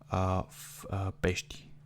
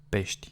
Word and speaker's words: pești: Okay, and the second one, if it's a consonant, you will barely hear it when you pronounce it.